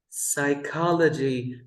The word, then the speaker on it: psychology: you can drop the P sound.